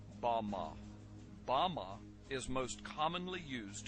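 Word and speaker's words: בָּמָה: The Hebrew word used in this text for the heights from which Satan fell is Strong's Hebrew word 1116, pronounced Bama.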